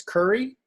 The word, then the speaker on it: Carrie: there my name is curry uh spelled like carrie but my mom pronounced it curry like the spice i am sister wapana